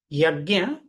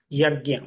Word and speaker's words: yajna: So this is from the Sanskrit word yajna. What is yajna? So here we can see the two syllables, ya and gya.